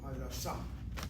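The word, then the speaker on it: הדסה: The name of the hospital, accent the last syllable, Hadassah.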